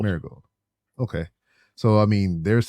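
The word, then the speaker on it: Marigold: it Mari gold marold just like the flower Mar gold Mar gold okay so I mean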